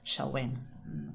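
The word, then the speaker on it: Samhain: eh eh que era la fiesta Celta de shawen se escribe shain pero se pronuncia más o menos shen como ya nos pasado otra vez disculpad nuestras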